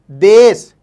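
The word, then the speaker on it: دیس: इसी तरीके से दूसरा वर्ड लेते हैं, दाल ये सीन, देश, देश, और इसका इंग्लिश मीनिंग होता है कंट्री, कंट्री, ठीक है।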